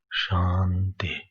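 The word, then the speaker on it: शान्ति: The Shanti mantra, when you pronounce Shanti, so under T should be down. It should be Om Shanti Shanti Shanti.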